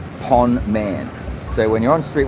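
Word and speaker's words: ប៉ុន្មាន: SA say this it means how much and it's spelled p o n Finelli m a n Pon man so when you're on Street 136 and need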